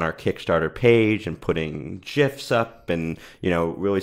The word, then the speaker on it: GIF: I prefer GIF as well. Yeah. This is not interesting. I like a soft G.